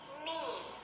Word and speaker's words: knee: letter sounds are silent when k and n come together then the sound of letter k is silent let's read some words